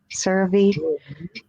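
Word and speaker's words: CeraVe: it doesn't work sir so how's it pronounced sir me sir Vee yeah it's about CER V your seat you know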